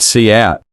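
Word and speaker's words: cout: be executed line five cap pronounced see out is an object used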